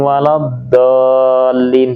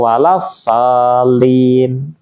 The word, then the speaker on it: waladdallin: Ghairil maghdubi alaihim waladdallin, dibacanya waladallin atau walassalin. Merubah makna.